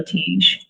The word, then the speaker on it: Teege: And Teege is, am I saying that right?